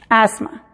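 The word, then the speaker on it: asthma: número 8, la combinación TH es muda en la palabra asma. Asma. ¿Se fijan? Lleva TH y en este caso la TH no es ni con voz ni sin voz, simplemente es muda. Se pronuncia asma, como si la TH no estuviera ahí.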